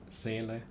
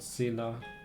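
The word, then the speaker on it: Seele: the of the craziest proper pronunciation is is always sele not not Sila or whatever they say that's a the German word for for soul in case you're wondering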